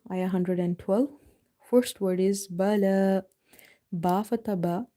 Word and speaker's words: بلى: Lam is having vertical fatha, so you have to read it by stretching. Bala. This ya is having no role here, so we will exclude it in recitation.